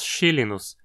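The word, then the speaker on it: xylinus: Veja que aqui temos um inus de origem grega, porque xylon, madeira, é uma palavra grega. Então o i é curto e dizemos chilinus, diferente do que aconteceu lá com a espécie Clostridium botulinum, onde o i era longo por ser de origem latina.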